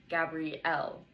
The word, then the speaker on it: Gabrielle: It has 4 vowels, ends with an E, and the stress is on the final syllable, Gabrielle.